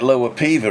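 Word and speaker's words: Lower Peover: Well, it's like Lower Piva, isn't it? That's spelt Lower Piova.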